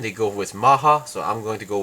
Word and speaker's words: Mach: the English it's supposed to be the correct pronunciation is supposed to be like mock or something but in this series the Japanese series or the Korean pronunciation or Japanese pronunciation they go with Maha so I'm going to go with the same